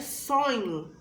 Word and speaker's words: sonho: c o l a agora a palavra sonho possui 5 letras mas possui apenas quatro fonemas pois a letra h não possui um são separados E lembra